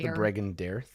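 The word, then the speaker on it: Bregan D'aerthe: regen dears the brandy I believe it's pronounced dragon deer it's bragging Dorf look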